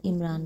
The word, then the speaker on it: عمران: عمران بتایا گیا ہے۔ قرآن اسی کا تلفظ عمران کرتا ہے۔ موسیٰ علیہ السلام کی